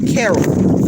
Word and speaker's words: Cariol: here her name is carol and i believe it's spelled c-a-r-i-o-l carol porn okay and they fired her because she